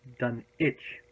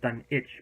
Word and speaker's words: Dunwich: my research it's actually supposed to be call pronounced done each day like Greenwich you don't say Greg which we say Greenwich so it's done each but as most people just sit down with